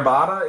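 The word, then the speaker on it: Batta: Claire, how would you pronounce that? B-A-T-T-A. Claire Bada is in the room.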